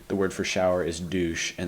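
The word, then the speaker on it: Dusche: word for shower is douche and that's exactly how it's pronounced the history of Adidas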